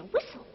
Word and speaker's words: whistle: you'll never hear you will see it glisten but no matter how you listen you'll never hear that silent t not even in a whistle not even in a